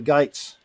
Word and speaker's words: Geats: And so the word goes out around the countryside and reaches across the waters to the Geats, or the Gates, how they pronounce it.